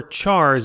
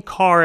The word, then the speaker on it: char: the word character and some people say char because that's how it's spelt I found people know